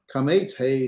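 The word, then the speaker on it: qamats hey: So any of those would be the hay kamates, hay sagol, hay saray, hay holum, or really it's pronounced kamates hay, sagol hay, saray hay, and holum hay.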